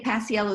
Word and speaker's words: Paciello: I should say Paciello is spelled P-A-C-I-E-L-L-O.